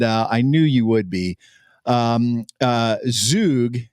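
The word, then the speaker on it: zhug: Zug, it's pronounced Zug sauce, likely originated in Yemen.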